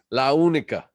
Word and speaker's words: La Unica: Yeah, I have to say it right because she emails me every time I say it wrong. So La Unica.